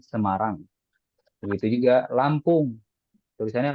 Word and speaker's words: Semarang: Ya, antum kalau bilang saya dari Semarang, ya jangan bilang ana min Samaronj, tapi ana min Semarang.